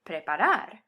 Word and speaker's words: preparar: in the consonant ere, my emphasis naturally wants to fall on the last syllable instead of the second to last. Preparar.